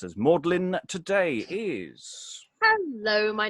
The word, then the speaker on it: Magdalene: reading uh mary magdalene but will be primarily pronounced as maudlin today is hello my name is